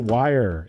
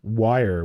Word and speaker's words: Weir: a we no but Brothers Weir pronounce it wire if you ever hear them on their podcast they're like we're the like wire like I'm Greg wire they don't say we're I screw that up